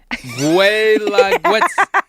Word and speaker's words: Guelaguetza: It's spelled Guelaguetza. I'm going to go with Guelaguetza.